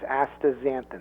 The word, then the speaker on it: astaxanthin: middle of it it's X is pronounced as a Z so it's astaxanthin that's perfect and astaxanthin like I mentioned earlier